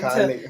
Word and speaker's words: Cali: Cali. Very like a hard C, like K. They're pronounced the vowels like Cali.